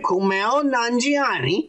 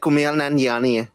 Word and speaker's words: Kumail Nanjiani: And I'm doing the fucking American accent, by the way. All right, Kumail Nanjiani. I said it right. The real accent would be like Kumail Nanjiani.